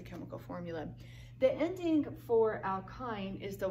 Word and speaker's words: alkyne: last one all kinds why any so you pronounce that with an i' alkyne this means that you have at least one